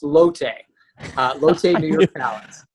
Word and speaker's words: Lotte: with derek brewster director of revenue management at lot new york palace aka the palace a historic landmark in midtown manhattan how are you sir i'm great and it's actually it's pronounced lotte uh lote new york balance i knew you